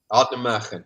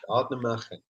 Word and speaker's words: Ardnamurchan: Ardnamurchan. That's what I got stuck with. Ardnamurchan.